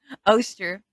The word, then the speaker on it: Eostre: So, Oster, which is where we get the name Easter. Like that, it's literally Oster is spelled Eostre, and Easter is obviously Easter.